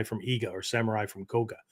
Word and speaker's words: Koga: They were known as the samurai from Iga or samurai from Koga, right? Or Koka, as sometimes the dialect is pronounced, right?